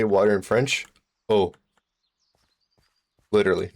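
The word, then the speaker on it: eau: Oh.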